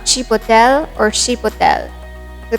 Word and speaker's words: chipotle: Chipotle. It's a dried smoked jalapeno. It's not chipotle or chipotle. The correct pronunciation is chipotle or chipotle.